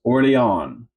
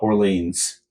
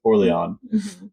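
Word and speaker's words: Orléans: Number 34 on the list is Orlion or if you're from Oklahoma, Orleans. Yeah. No, but it's I think it's pronounced Orlion.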